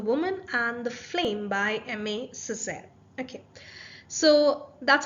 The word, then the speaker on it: Aimé Césaire: the poem The Woman and The Flame by Emma Cesar okay so that's how we pronounce the name of the poet so it's